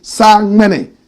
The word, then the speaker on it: Samini: Proper pronunciation, Sangmene, simply meaning the rain god in the Dagati language.